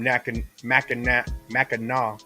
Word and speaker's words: Mackinac: Heck Shout out Chad Bennett from Mackinac. Glad to be fuck part that. of the madness. Hard C.